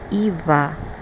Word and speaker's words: Yahweh: Yahweh is pronounced Eva.